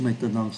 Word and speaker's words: maintenant: Ký tự ơ ở trong chữ maintenant không phát âm.